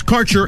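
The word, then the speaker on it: Karchr: cannabis Insurance Services is spelled k a r c h r that's Cure Insurance we have worked with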